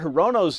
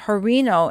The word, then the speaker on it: Hirono: Her pronunciation of Hirino instead of Mazie Hirono has fueled claims of incompetence within the Biden administration.